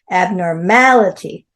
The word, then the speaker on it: abnormality: normal normalized abnormal abnormality abnormality five syllables abnormality stress on the m a then we have occur